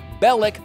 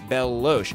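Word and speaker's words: Belloq: villain is of course Bellic though I think maybe the confusion came from at one point in the movie Salah mispronounces his name Bell Lo and in the MC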